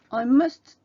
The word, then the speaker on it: must: c'est l'interdiction dans mus vous ne prononcez pas le premier t must my bedroom je dois